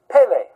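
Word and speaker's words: פלא: The word Pe Lamed Aleph means wonderful, marvelous, secret, hidden mystery that's so amazingly wonderful. And it's pronounced Pele.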